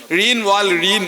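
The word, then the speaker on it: Jean Valjean: വലിയ ബൃഹത് ഗ്രന്ഥം അത് മുഴുവൻ വിശപ്പിൽ നിന്നാണ് തുടങ്ങുന്നത് ഴീൻ വാൽ ഴീൻ എന്നും ഒരുപക്ഷേ നിങ്ങൾ ജീൻ വാൽ ജീൻ എങ്ങനെ വേണമെങ്കിൽ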